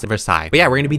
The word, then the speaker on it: Versailles: I literally had to watch a YouTube video on how to pronounce it, Versailles.